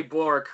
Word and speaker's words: Bourque: How exactly do you pronounce? Yeah, it's Bourque, right?